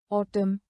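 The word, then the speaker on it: autumn: उदाहरण column column, ऑटम ऑटम। Condemn condemn.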